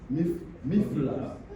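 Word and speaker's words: מפלס: Miflas. Hein? Non, ça tu le prononces en français. Non, il faut le prononcer dans le mot hébreu, c'est miflas.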